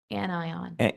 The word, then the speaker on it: anion: for the recommended modular and I believe the pronunciation of that word is an AON. Is that correct? Anion.